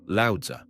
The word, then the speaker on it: Lao Tzu: great rival of Confucius, Lao Tzu, pronounced Lao Tzu, he who is said